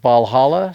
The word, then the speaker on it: Walhalla: we're to place place called Valhalla spelled with a W and it's the Walhalla Plateau Valhalla Plateau from here we